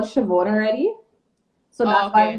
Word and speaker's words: Siobhan: How do they pronounce it? Is it Siobhan? Siobhan.